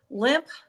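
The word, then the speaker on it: Lemp: Limp, and it's spelled L-E-M-P, Limp Mansion in St.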